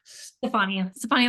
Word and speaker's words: Stefani: Stefani or Stephanie? Stefani like Gwen.